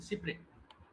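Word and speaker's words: cy-près: এটা আবার doctrine of সিপের একটা উদাহরণ বলতে পার এটা একটা ফ্রেঞ্চ ডকট্রিন ডক্ট্রিনটার নাম হচ্ছে doctrine of সিপ্রেস সি ওয়াই আরই ডবল এস বা সিপ্রে কারণ ফ্রান্সে এস উচ্চারণ হয় না যেমন লুইস শব্দের অর্থ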